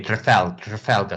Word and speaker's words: Trafalgar: Okay, Trafalgar. So the stress is on the second syllable.